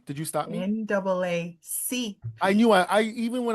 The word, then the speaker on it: NAACP: me on my show, are up for an NCAAP Image Award for Best Podcast. So you have to. Did I say it wrong? Did you stop me? NAACP.